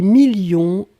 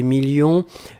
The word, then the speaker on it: millions: s à la fin 2 millions on ne prononce pas le s mais il est là ensuite signature mais ici